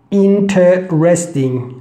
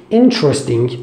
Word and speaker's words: interesting: interesting we don't use inter resting we don't use this one this syllable again just interesting say instead of interesting we say interesting okay that's very simple